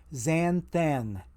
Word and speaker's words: xanthan: It ends with AN. XANTHAN. So there's 2 different AN sounds there. Xanthan. Xanthan gum. I mispronounced it the first time around. I said xanthan gum. And I had my alliterations kind of bass-ackwards. It's xanthan. XANTHAN is how you spell it.